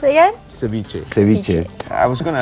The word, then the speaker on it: ceviche: a hint of ceviche and how do you pronounce it again ceviche ceviche i was going to ask about the